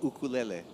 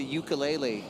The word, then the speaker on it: ukulele: I love actually in Brazil that you guys say ukulele. Yeah. Because that's the right way to say it. Yeah. Oh, yeah? Because in the U.S., a lot of times people say ukulele.